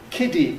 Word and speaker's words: kiddy: But of course kitty and kitty in American English are going to be identical.